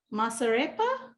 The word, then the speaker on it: masarepa: was the goya and it is white cornmeal masarepa is that how you say it yes yeah